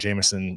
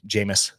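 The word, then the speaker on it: Jameis: are pissed off want Jameson removed jamus that's how you say it right Jam Jam Jam Winston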